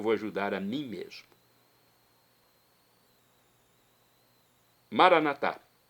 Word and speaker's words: Maranatá: Pronúncia católica. A pronúncia dos nossos irmãos, das comunidades evangélicas ou protestantes normalmente é maranata, mas não importa.